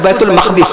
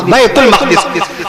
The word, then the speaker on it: بیت المقدس: بیت المقدس فصیح تلفظ بیت المقدس. بیت المقدس آپ جو بیت المقدس کہتے ہیں وہ بھی ٹھیک ہے، وہ بھی ٹھیک ہے، مقدس گھر، وہ تقدس سے ہے اور یہ تقدیس سے ہے.